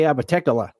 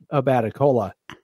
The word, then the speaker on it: Abatecola: If you have an iPhone, it likes to say Abatecola, but that's not how we say it. We say Abaticola. That actually makes a lot of sense. A is the first syllable. Bat is the second syllable. Then E. Then cola. Abaticola.